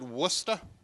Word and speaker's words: Worcester: our city names because they're spelled differently than they're pronounced like we have a